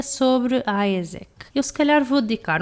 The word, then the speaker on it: AIESEC: Mas se calhar hoje eu vou-me concentrar um bocadinho mais na minha experiência, e a minha experiência foi com a AESEC, que se escreve AIESEC, mas eu depois vou deixar o link na descrição do episódio.